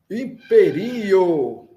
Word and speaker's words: imperio: A sílaba mais forte está no segundo i, não é? Vamos recordar que todas palavras em esperanto são paroxítonas, ou seja, a sílaba forte é na penúltima sílaba.